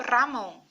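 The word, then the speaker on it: Ramón: Vocês viram aqui que eu pronunciei o Ramon como Ramon, porque esse R justamente vai ser mais vibrante.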